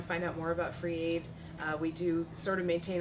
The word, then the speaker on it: Fr33 Aid: a ID com created is pronounced free but it's spelled FR 33 so FR 33 a